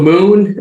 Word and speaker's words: mxxn: you guys yeah definitely so moon it's spelled mxxn it's kind of a playoff if you say it fast mixing we want people to